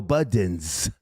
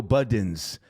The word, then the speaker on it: Budden: He says, why do niggas pronounce Boosie as Bootsy and Joe Budden as Joe Buddens? Biggie. Salute to you, sir. Salute to you. Every time I hear somebody say Joe Buddens, I'm like, it's Budden.